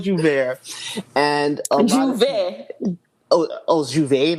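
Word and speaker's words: J'ouvert: So it's the term it is spelled Jou, which is jou, right, which means day, and Vert, which is break, which is ver. Like there's a light R at the end.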